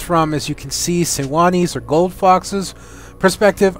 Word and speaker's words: Sejuani: I know they pronounce it Sejuani or whatever, but if I'm actually going to pronounce it that way, it sounds much better pronounced as Sewani, and it just sounds more authentic to me, I guess.